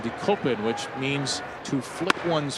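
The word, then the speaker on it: Dekopin: in Japanese d k o p i n decopin which means to flick one's forehead in Japanese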